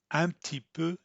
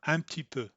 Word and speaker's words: un petit peu: instead of an issue she's going to say am tipu so listen for antipo if you wanted to pronounce that you'd you would close your mouth